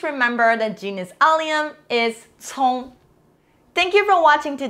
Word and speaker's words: 葱: The word of the day today is very simple, 葱, which means genus alliums. All type of genus alliums pronounced in some type of 葱.